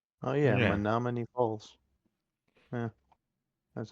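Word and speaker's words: Menomonee Falls: Menominee Falls pronunciation. Oh yeah, Yeah. Menominee Falls.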